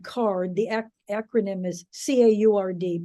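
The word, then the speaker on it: CAURD: let a hundred and fifty applicants it's called card the acronym is c-a-u-r-d pronounced card stands for conditional adult use recreational dispensary license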